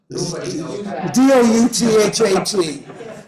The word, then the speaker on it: Douthat: As Justice Barrett admitted in a recent interview with Ross Duho of the New York Times, how many of you have seen that interview or read it?